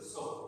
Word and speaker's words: sow: Pronunciation में difference है, SHOW शो और SOW सो।